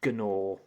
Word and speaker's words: gnaw: And Gnaw. Do you know why the G is silent? You don't say it.